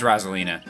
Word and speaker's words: Rosalina: waluigi you say catalina is it Rosalyn or Rosaline I always say Rosalina is it right easy there's no easier technical like correct pronunciation but I have no idea I just assumed as rosalina you guys in the comments I said it right actually I think it's correct in Smash Brothers it's Rosalina wrong I'll never say